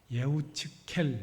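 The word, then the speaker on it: יחזקאל: 읽은이 에스겔 같은 경우에도 원래이 히브리어 발음은 예측케 뭐 이렇게 발음 하거든요 예측케 그럼 우리는 에스겔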